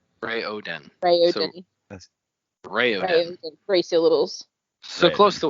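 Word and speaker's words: Raoden: see what it says i in my head i always said rowden but apparently it is rayo den is it right is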